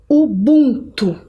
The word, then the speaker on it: Ubuntu: Ubuntu, é assim que se pronuncia.